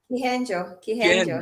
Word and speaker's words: Kihenjo: How do you say the last name? Kihenjo. Okay, that is Kihenjo, founders of Pet Paradise, based out of Nairobi, Kenya, with a vision to expand throughout Africa.